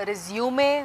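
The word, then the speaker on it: résumé: अब है आपका रिज्यूमे वर्सेस रिज्यूम। स्पेलिंग दोनों के सेम है, प्रोनाउंसिएशन में थोड़ा सा डिफरेंस है। एक है रिज्यूमे और दूसरा है रिज्यूम।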